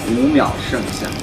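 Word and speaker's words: 五秒盛夏: Oh, yeah, how do we pronounce it? This is 五秒. 五秒. 剩下. 剩下? Yeah, 五秒, 剩下.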